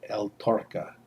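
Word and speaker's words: El Torcal: one uh are um called el torka I think that's how you say it tocal l tal t o r c a l uh boy you know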